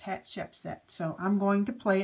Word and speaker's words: Hatshepsut: having a difficult time so I found this one and it's hat Shep set so I'm going to